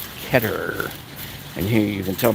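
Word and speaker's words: Keter: ketter so i've been corrected i used to pronounce it heater but it's actually pronounced ketter and here you can tell by their famous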